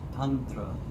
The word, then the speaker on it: tantra: The word is tantra. It's a soft t with t is tantra.